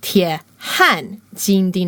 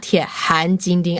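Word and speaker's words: 铁汉金钉: and the Golden Spike, the Chinese translation of is 铁汉金钉, not 铁汉金钉. I pronounced it the second way.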